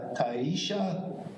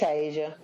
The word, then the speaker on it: Tasia: Is it Tasia or Taisha? It's Tasia.